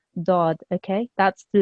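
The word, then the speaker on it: ضاد: that this actually here the highlighted letter is actually pronounced correctly in Arabic as daaad okay that's the letter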